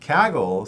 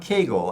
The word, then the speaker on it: Kaggle: that uh Google had acquired kaggle exactly yeah kaggle so not Kegel it was some mispronunciation yeah I'd heard it on a previous